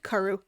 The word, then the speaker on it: cwrw: Actually saying cwrw is just, again, if you see like a W or a Y, if you see like a W in a space that sounds like it should be a U, say it like that. So it's a K and a Ru.